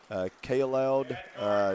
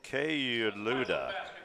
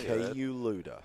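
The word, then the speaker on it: Kayouloud: And rounding it out for the Raiders, it looks like K-Loud, number 33, a 6'7" sophomore from Paris, France. And folks, the correct pronunciation of that is K-Luda, and they've added a few.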